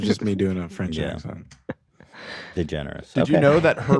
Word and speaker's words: DeGeneres: me on this one the generous is french okay yeah i should have guessed it can you pronounce can you pronounce it in french de generi did you read the